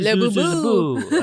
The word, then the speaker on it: Laboulaye: If you're in America, you can say Laboulaye.